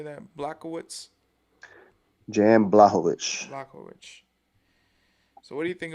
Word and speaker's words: Jan Blachowicz: Blachowicz.